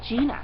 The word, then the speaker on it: Gina: um but it's actually Gina I've actually called her Jenna and it's actually Gina um is her first